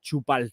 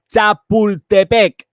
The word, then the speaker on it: Chapultepec: Calm and the bright think that a forest bath in the forest of Chupal, sorry I say it like the ass, I